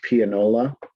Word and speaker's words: pianola: But it's pronounced pianola.